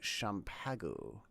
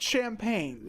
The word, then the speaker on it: champagne: I think this is actually Champago. would you like the rest of the champagne? It's pronounced champagne.